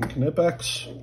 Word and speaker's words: Knipex: go so those are some knipex and yes that is how you pronounce it I will fight in